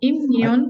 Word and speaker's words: immune: itself, but the pronunciation, the E makes it so that usually this will say its name, which is you, right? You, right. So then it's going to be mune because of the immune.